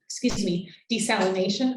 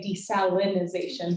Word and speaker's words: desalination: like carbon capture, like desalination. I always want to add an extra syllable and say desalinization, but that's wrong.